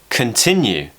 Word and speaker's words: continue: longer so a cur what about the word continue so we've got the schwa in the first syllable continue big word coming up